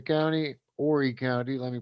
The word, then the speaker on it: Horry: very interesting information on this case out of horry county horey county let me pronounce that correctly here as a transplanted south